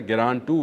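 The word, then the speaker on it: Geran-2: मैंने इसको पहले गलत लफ्ज़ इस्तेमाल किया था, गिरान 2 इसका सही प्रोनाउंसिएशन है।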